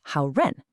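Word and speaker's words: 好人: You put the character for good with person, ren, and you get how ren, a good person.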